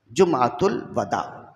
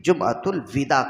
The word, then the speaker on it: جمعۃ الوداع: جمعۃ الوداع کہتے ہیں۔ اس کا صحیح تلفظ واو کے زبر کے ساتھ ہے، جمعۃ الوداع۔ عام طور پر استعمال میں اسے جمعۃ الوداع کہتے ہیں، واو کے زیر کے ساتھ، جو صحیح تلفظ نہیں ہے۔ ہمارے ہاں تو تلفظ